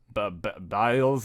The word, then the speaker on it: Biles: Biles? Biles, it's what it looks like.